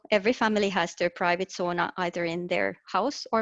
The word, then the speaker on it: sauna: many people know that it is actually a finnish word and we pronounce it sauna sauna is dating thousands of